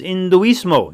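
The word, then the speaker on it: hinduismo: So another interesting thing about the word Hindu or Hindu is that our Latin friends because they don't pronounce the letter H.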